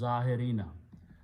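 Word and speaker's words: ظاهرين: And a pronunciation will require that we pronounce as zahirina.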